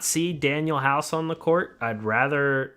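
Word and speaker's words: Danuel House: If you were a true Sixer fan, you would know his name's not actually Daniel House. It's Daniel House. There's a U.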